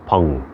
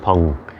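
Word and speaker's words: peng: allowing things to round that's what we call pong or p-e-n-g p-e-n-g so spelled ping but pronounced pong and if we really attend to those four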